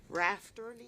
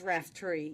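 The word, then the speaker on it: Raftery: want to start there I've been pronouncing your name all this time wrong rafter it's RAF tree yes and uh quite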